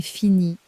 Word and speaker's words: finie: It takes one extra letter at the end, and that letter is completely silent.